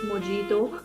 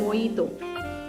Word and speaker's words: mojito: call this first one please do not ever call this mojito this is moito right this is called moito yes so when when